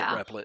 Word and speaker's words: Replit: We called it always Repellent. pronounced it Repellent. Okay. I was like, think is there a new one Replit out there? He in does. the video. He pronounces it Replit.